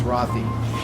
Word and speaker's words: rothii: because he was American and the naming goes after the way the person, how they pronounce it themselves, it's Roth. So it's Rothi.